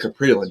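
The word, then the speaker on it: Kaprielian: That's how you say it, Caprillan.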